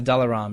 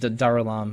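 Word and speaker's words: Dalaam: in the caves underneath dalar or daram I'm probably saying it wrong is it just Dam I think it's Dam dam okay yeah it's it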